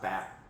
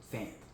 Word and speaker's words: Fant: Washington Commander signed former Seahawks alpha that George Fant with an N. It's not fat. Fat. No, it's not fat. Fant. Okay. Fant. Say it right.